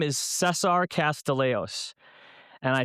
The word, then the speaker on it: Castillejos: My name is Cesar Castileos and I say it like I'm from Fidley.